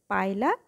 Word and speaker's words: Pila: তো এক্ষেত্রে যেটা হয়ে থাকে যে তোমরা পায়লাকে উচ্চারণটা একটু ডিফারেন্টভাবে করো, সেটা হচ্ছে যে পিলা বলে থাকো। যদি তুমি গুগলে সার্চ দাও দেন এটা পিলাই দেখাবে, বাট অ্যাকচুয়ালি সায়েন্টিফিক্যালি এটাকে আমরা উচ্চারণ করি হচ্ছে পাইলা গ্লোবোসা।